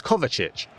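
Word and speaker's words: Kovačić: It's Kovacic.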